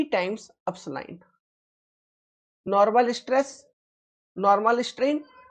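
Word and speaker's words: epsilon: क्या है इस सिंबल का प्रोनाउंसिएशन? अपसलाइन, अपसलाइन, sigma and अपसलाइन।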